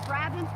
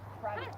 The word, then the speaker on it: Brabant: These are Brabant's Percheron crosses.